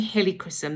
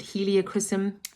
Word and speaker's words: helichrysum: we go on to helichrysum the next oil and in this blend uh some people pronounce it heliochrysum um in the old